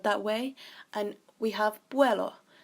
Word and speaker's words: vuelo: And we have vuelo, which is pronounced with a B at the front. So ¿Cuándo el próximo vuelo?